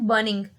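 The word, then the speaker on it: burning: बर्निंग. आर को ज्यादा pronounce ना क्या करें. आर मोस्टली बहुत कम आवाज में यूज होता है. बर्निंग. ठीक है ना. बर्निंग, बर्निंग ऐसे नहीं.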